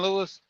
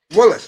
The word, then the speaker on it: Willis: Kevin Willis. Kevin Lewis? Willis. Nah. Willis.